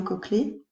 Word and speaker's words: cochlée: Alors ça s'écrit cochelée, mais ça se dit bien cochlée.